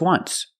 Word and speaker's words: once: or this example just once but you say there's an o in once that's a vowel but phonetically it's not a vowel phonetically it makes the sound ww like a w w w once so phonetically the t